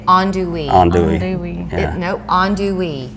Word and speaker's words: andouille: think most of us struggle with how to pronounce, but you say andouille.